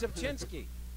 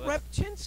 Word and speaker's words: Rzepczynski: No, because nobody can say my name. It's Rzepczynski. Yeah, but I just said it. It's not that hard. He would call you Rzepczynski. Well, Rzepczynski. Technically, that's the American way to say it.